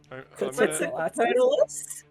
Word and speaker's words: Quetzalcoatlus: is how you pronounce it. Quetzalcoatlus?